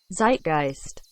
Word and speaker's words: Zeitgeist: Zeitgeist. Zeitgeist. Zeitgeist. Wise investors recuperated the experience. The Z needs to be sharper. More of a zeitgeist. I think it's a zed closer to the Italian zed.